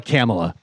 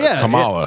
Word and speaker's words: Kamala: president and they also they call kamla camela like that's the thing like you're so smart but you don't know how to pronounce somebody's name I don't were you